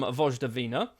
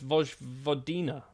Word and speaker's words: Vojvodina: Alexa Simic, an 18-year-old Serbian right-back for £1 million from Vojvodina. It's also not pronounced like that, is it? It's Vojvodina. Vojvodina is how we're going to say this.